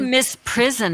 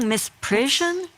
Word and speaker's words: misprision: You guys, we say misprison in Alabama. What are you saying, misprision? There's an I in there.